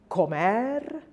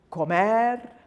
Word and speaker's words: comer: Rule number 2, if a word ends in another consonant other than N or S, then the last syllable is accented. And a lot of verbs would qualify for this, like comer, jugar, and bailar. So I'll say that again, jugar, comer, bailar.